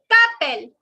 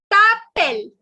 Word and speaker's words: t'appelles: Comment tu t'appelles. The last S is silent.